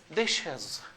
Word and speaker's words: dishes: Dishes. Dishes. Dishes. We have shwa and z sound.